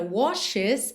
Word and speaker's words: washes: Olha que interessante, nessa palavra washes, esse é pronunciado, ok? Até porque ficaria muito difícil você ir de um SH para um S, washes, né? Ficaria um pouco confuso. Então, washes, washes. O E realmente faz a ponte entre o SH e o S.